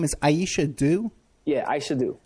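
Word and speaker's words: Aisha Dew: Now her name is Aisha Doo. Yeah. Aisha Doo. How do you spell that?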